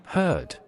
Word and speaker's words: heard: O dialeto dos Beatles também não é rótico, então os R's no final das sílabas tenderia a não ser pronunciado. Então, essa palavra aqui tenderia a ser pronunciada Heard.